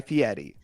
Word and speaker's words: Fieri: And his name is actually Guy Fieri.